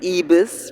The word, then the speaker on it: Ibis: now we are at the Ibis or eus pronounced in Spanish um hotel that I